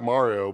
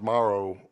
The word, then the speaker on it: Mauro: It sounds like Mario, but it's not. It's Mauro. I think it's Mauro.